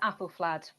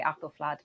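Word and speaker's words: Æthelflæd: And I think it's apple flad only only using the logic that the ash symbol is the same in Alfred and Apple. And they've come down a so I say apple flad but you know tomato tomato.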